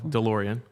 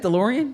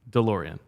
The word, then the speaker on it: DeLorean: You said DeLorean. And it's? DeLorean. So I said D and it's duh.